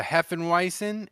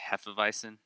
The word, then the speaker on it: Hefeweizen: and caffeine say that again it's a heff and weisen and they used it yeah and they infuse and infuse it with uh coffee and um caffeine i'm pretty sure it's supposed to be pronounced hefeweizen half of i don't